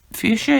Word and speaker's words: fuchsia: even going to say the word fuchsia is spelt f u c h but he pronounced that h as if it was a k and he said would